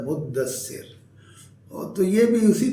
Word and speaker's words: مدثر: بعد صورت ہے المدثر۔ یہ بھی اس کا تلفظ بھی عام طور پر لوگ مدثر پڑھتے ہیں، اور لوگوں کے نام بھی مدثر ہوتے ہیں۔ اصل میں لفظ ہے مدثر، اور تو یہ بھی